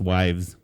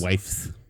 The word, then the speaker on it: wives: significance others let's pronounce wives that's what i said you said wife's wives like knives knives wives whites i'll